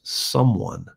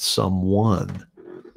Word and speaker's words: someone: used to talk about putting the emphasis on the right syllable so it's someone not someone everybody says someone it's a small thing